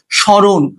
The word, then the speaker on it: স্মরণ: শব্দের প্রথমে মফলা থাকলে মফলার উচ্চারণ হয় না। যেমন স্মরণ, শ্মশান। তো এই স্মরণ আর শ্মশানের কিন্তু মফলা উচ্চারিত হচ্ছে না।